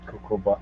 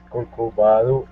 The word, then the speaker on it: Corcovado: If you want to go to the Cocoba, okay. But first of all, I think you are pronouncing the word incorrectly. It's Corcovado Statue.